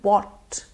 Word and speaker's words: bought: And bought. Bought rhymes with got. We have the O sound in it.